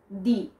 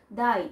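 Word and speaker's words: di: সো আমি যদি প্রথম থেকে শুরু করি, প্রথমে আপনি দেখতে পাচ্ছেন দি, দি, দ্য প্রোনাউন্সিয়েশন ইজ নট দাই, ইজ দি, ঠিক আছে?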